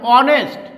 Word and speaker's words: honest: Here the word starts with honest and the pronunciation of ace is omitted, so we can use and before it.